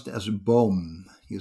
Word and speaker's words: boom: tree in dutch we pronounce it as a bomb you spell it as b double double o m there